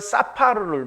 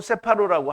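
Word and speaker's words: ספר: 이거는 히브리어의 사파르를 말해요. 히브리어 사파르 혹은 세파르라고 할 수도 있는데요.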